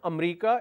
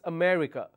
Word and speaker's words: America: all right for example the country name America so the pronunciation in terms of syllable is a me C four syllables but lot of people in Punjab chandigar Delhi and these areas they say am I'm going to America it's not America it's America so there are four syllables in America but they drop one